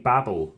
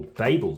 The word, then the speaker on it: Babel: plan review for the game Babble or Babel depending on how you should pronounce it by all of